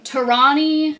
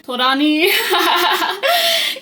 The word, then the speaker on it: Torani: So, we're going to get some Torani Torani caramel. I would say it like it was a Japanese word.